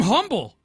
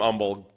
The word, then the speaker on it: Humble: I'm like oh yeah Bert you're you're from Humble he's like yeah it's humble which should have